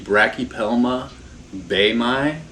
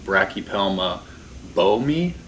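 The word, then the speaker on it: Brachypelma boehmei: This is the Brachypelma baemi, is how it's pronounced in Latin. I've seen online that other people pronounce it Brachypelma boemi or Brachypelma baemi.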